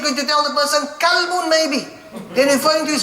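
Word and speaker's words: كلب: There we have next, kalbun. With a kaf. A kalbun is a dog. Right? Qalbun, a heart. Kalbun, a dog.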